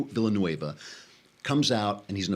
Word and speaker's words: Villanueva: of them comes out Alejandro Villanova who is one of is that how you pronounce it fluent Villeneuve of Villanueva sorry Alejandro Villanueva comes out and he's